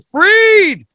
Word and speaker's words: Freed: It looks like fried, spelled like Freed. When he's not on CNN or BBC News, he's right here on your YouTube, baby. It's Dr. Norman Freed.